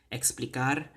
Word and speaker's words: explicar: not sorry do not you need to roll your R's but do not put the whole American retroflex are the in betar you